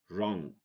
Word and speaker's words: wrong: Rest, wrong, rap. Okay, W is silent when it goes before R.